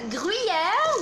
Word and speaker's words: Gruyère: her souffle with great gruyere which you want to pronounce the frenchiest way possible to get all the